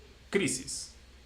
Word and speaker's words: crisis: And the same with the last syllable, with the last word, which is ends with an s or s. So the one before the last one is crisis.